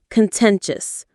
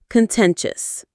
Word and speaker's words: contentious: The stress is on the 10 syllable. Contentious. Say it with me. Contentious.